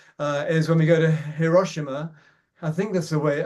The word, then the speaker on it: Hiroshima: But my major joy, I think, is when we go to Hiroshima. I think that's the way. I think it's not Hiroshima, it's Hiroshima. I looked up how to